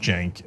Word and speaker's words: Cenk: know they're less likely to know that it's pronounced jank etc right so anyway he says hey were